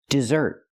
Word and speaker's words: desert: talk about this word it looks like desert but it's not this word is pronounced dessert it's a verb it